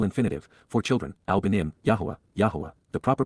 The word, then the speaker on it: Yahweh: having compassion peel infinitive for children Alim yah Yahweh the proper pronunciation of the name of eloha God as